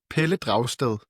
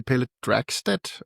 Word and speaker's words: Pelle Dragsted: Yeah, in Danish it's Pelle Dragsted, but in English you could say Pelle Dragsted or something like that.